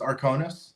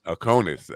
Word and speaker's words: Arcanist: The book, Arcanist. Am I pronouncing that right? First of all, that's your made-up word. So you described the. So it's pronounced Arcanist. Arcanist.